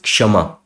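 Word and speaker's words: क्षमा: So it has a slight hint of ka and then sha. So it is kshama.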